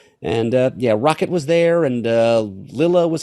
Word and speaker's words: Lylla: And Rocket was there, and Lilla was, I can't say Lila because it's spelled Lylla, and a double consonant usually makes for a short vowel sound.